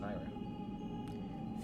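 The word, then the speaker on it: Nayru: Nehru, the goddess of wisdom. I've always pronounced it Naira.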